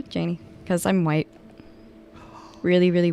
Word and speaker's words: Janey: moved to chicago um people kept pronouncing my name uh janae i get janae i'm like no janie because i'm white really